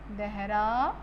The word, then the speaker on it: Dehradun: Next is Dehradun. If you have any type problem to pronounce these words, you can use this trick.